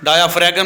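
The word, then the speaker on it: diaphragm: called डायाफ्राम ठीक है डायाफ्राम नहीं पढ़ना इसको क्या पढ़ना डायाफ्राम ये जी इसमें साइलेंट है वो एक बंदा था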